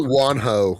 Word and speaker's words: Juanjo: dude's name is it do you think it's wanho or juan joe guanido how is it spelled it's spelled j-u-a-n-j definitely wonho because it's spanish yeah you're probably right and